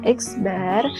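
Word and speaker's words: x̄: Ini membacanya adalah X bar.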